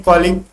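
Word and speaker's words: colleague: को ही कहते हैं कॉलीग। कॉलीग तो नहीं होते, जो पढ़ते हैं कलीग, ठीक है, लेकिन हम लोग कॉलीग बोल देते हैं, लेकिन होता है एक्चुअली इसका प्रोनाउंसिएशन कलीग।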